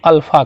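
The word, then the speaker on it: α: अब देखिए, इसी तरह से लिखा जाता है ये, तो इसको क्या पढ़ते हैं? इसको अल्फ़ा कहा जाता है।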